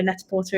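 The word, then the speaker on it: Net-a-Porter: called net or netor however you want to pronounce it I'm from leester so net Porter is the way um um yeah so I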